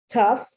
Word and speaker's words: tough: the gh is spelled it's pronounced like an f just like tough just like cough they end in gh they do not end in f and they definitely do not end in ph tough once again that gh